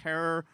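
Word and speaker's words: Herer: uh author of How to Grow Medical Marijuana, editor of The Emperor Wears No Clothes with Jack Herror, Rhymes with Terror, producer of the documentaries The Union: The Business Behind Getting High and The Culture High.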